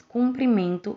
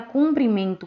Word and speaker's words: cumprimento: temos aqui as palavras cumprimento e comprimento Como podemos ver é uma única vogal que muda a pronúncia e o significado da palavra a palavra cumprimento com u significa cumprimentar